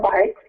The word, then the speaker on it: Buycks: okay well first off my name is bikes so now if they pronounced like v-i-k-e-s and I'm actually running for